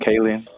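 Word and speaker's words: Kaling: to say her last name, Kayen.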